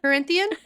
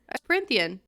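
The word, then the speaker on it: Prythian: Corinthian? Prithian.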